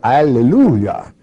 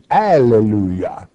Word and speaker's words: alleluia: You say alleluia. Now in the Greek you will find it in Revelation chapter 19 more than one time, only instead of hallelujah it is pronounced in the Greek alleluia.